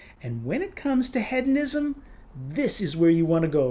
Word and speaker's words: Hedonism: Despite the fact that the American in me wants to pronounce it hedonism, I attended a benefit tasting with Compass Box founder and whiskey maker John Glazer last year, and he pronounces it hedonism.